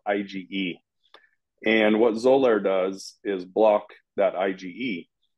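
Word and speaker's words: Xolair: know there's a medication called zoler that's spelled with an X that's the trade name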